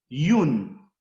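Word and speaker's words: youn: Por ejemplo, uno en criollo es yun, yun, yun, yun. Es la pronunciación de I, O, U, N. La deformación. La pronunciación es yun.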